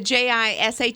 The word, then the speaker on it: Jisha: So how do you say the Jisha? Jisha. Keisha. Oh, so you make the J silent.